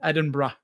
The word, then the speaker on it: Edinburgh: You know, we booked uh we booked our flight, some hotels and experiences in London and Edinburgh is how they say it.